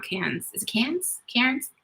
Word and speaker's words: Cairns: in c-a-c-a-i-r-n-s this is i thought but i guess it's cans when they say it yeah so we say it wrong so i'm sorry beverly's